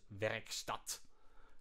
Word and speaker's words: Werkstatt: Workstat, which I assume I should pronounce as Werkstatt, but yeah. And honestly, who knows?